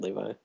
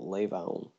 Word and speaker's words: Levon: Very good, Levi. Is that? Oh my god. Is it Levon? How do you say his name, Levon? LeBron? No, it's with a V. Oh, Levon. Like Trayvon. Like Devon.